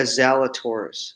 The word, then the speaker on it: Zalatoris: I did William Zalatoris. Did I pronounce that right? Yeah, Zalatoris.